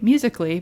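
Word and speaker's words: musical.ly: Amy could you not know how to say musically but but it was because it's spelled out musical.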